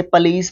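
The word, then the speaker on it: police: नीचे वाला वैसे पलीस प्रोनाउंस करते हैं, बट हम लोग इसको भी पॉलिश ही बोलते हैं, पुलिस या फिर सिपाही को डिनोट करने के लिए।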